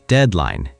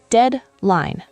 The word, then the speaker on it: deadline: The next word is deadline. Deadline. The pronunciation is deadline. 2 syllables. Deadline. Deadline. Yes, the first part sounds like dead.